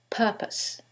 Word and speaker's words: purpose: syllable that's stressed and in the second one is the first syllable and that changes the pronunciation completely the first word is propose and the second word is purpose so what is the